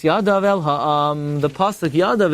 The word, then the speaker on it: yadav: The pasuk yadav, it's a Greek sieve. It says, Vayisa Aaron es yadai, he lifted up his hand, but it's spelled yadai, and it's read yadav.